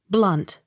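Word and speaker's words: Blount: s t e r bister accent on first syllable b l o u n t blunt b l y t h bly t h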